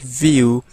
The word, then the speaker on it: Vue: and it's selling that view pronounced like view as a progressive framework